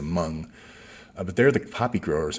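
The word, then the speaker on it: Hmong: It's the Hamong, Hm. I think it's pronounced the Mung, but they're the poppy growers in La La L.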